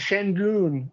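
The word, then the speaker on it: Şengün: 100 jalen green and shen goon i believe i i believe it's pronounced but i'm still learning how to pronounce that one but he is just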